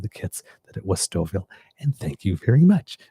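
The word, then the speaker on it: Stouffville: and for some reason I was trying to pronounce the Fs incorporate the Fs. And again I knew it was Markhamm Stoville because I've heard it but I couldn't remember it.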